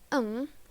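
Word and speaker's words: ㅇ: Walau huruf iyeng dilafalkan dengan eng, bila berada pada posisi akhir suku kata, pada awal suku kata tidak dibunyikan. Nah, seperti iyeng, iyeng, jika iyengnya ini ada di akhiran seperti ini, dibacanya eng. Kalau misalnya huruf iyengnya diletakkan di awal huruf vokal, iyengnya ini diletakkan di depan huruf vokal, iyengnya tidak akan dibaca, langsung ke huruf vokalnya.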